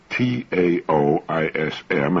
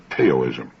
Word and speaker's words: Taoism: the chinese taoism of particular interest that's spelled t-a-o-i-s-m often mispronounced teo-ism taoism the tao signifies the energy of the